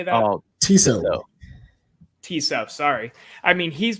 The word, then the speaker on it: Tissot: Oh, Tissot.